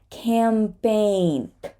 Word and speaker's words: campaign: Queen's Reign for example campaign campaign right campaign here we're not going to say the g either and it's going to